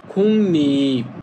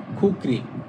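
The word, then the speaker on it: 국립: কিন্তু দেখেন এই যে গিউক আছে গিউকের পরে যদি রিউল থাকে তখন হয় খুনি। তখন উচ্চারণ হবে খুনি। আপনি উচ্চারণ করবেন খুনি। কিন্তু লিখা থাকবে খুকরি।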